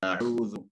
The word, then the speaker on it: أعوذ: So pronounce عين. أعوذ. أعوذ.